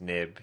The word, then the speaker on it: XIB: It's XIB, it's pronounced nib because it used to be NIB files in the older Mac versions.